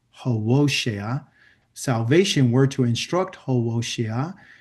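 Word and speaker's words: Hosea: So Yahwa's opening words in speaking to Hosa, that's his proper name, how to say it, Hosa, salvation were to instruct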